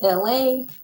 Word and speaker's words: Elay: My name is Elay, pronounced like LA like the city.